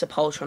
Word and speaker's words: Sepultura: It's pronounced Sepultura, not Sepultura, alright?